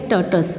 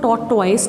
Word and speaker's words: tortoise: अब उनमें एक है टर्टस. अब इसको टॉर्टॉइस नहीं बोलना, that pronunciation is wrong. Pronunciation है टर्टस, ठीक है, यानी कि एक कछुआ है और एक रैबिट्स की जोड़ी है.